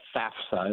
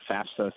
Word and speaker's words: FAFSA: or have gone there, the federal, it's the FAFSA is how I pronounce it.